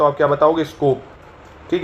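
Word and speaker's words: Skopje: तो आप क्या बताओगे स्कोप ठीक है स्कोप या कई लोग स्कोप ज बोल देते हैं इसको हालांकि जे साइलेंट रहता है तो स्कोप बोल सकते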